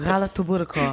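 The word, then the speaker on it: galaktoboureko: Galatoburiko.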